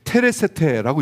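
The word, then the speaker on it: τηρήσετε: 여기서 지킬 것이다 라고 하는 이 부분은 테레세테라고 읽거든요.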